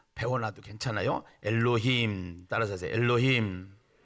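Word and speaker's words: אלוהים: 다르기 때문에 우리 한 번 배워 나도 괜찮아요 엘로힘 따라서 엘로힘 아 발음 좋아요 다시 한번 엘로힘 예 2 엘로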